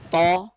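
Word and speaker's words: ط: these two letters that In tha less area of the tip of the tongue is stretching at the hill while in the more area of the thing tip of the tongue is touching Can You Feel the difference yeah can you also feel the difference that is a soft letter as compared to thaw also feels the difference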